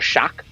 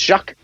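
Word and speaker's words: Shough: are talking about Tyler Shock or Shuck. It's pronounced Shuck, spelled S H O U G H.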